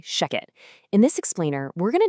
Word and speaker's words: ShechetAI: And just so you know, that's spelled sh e c h e t, but we say shecket.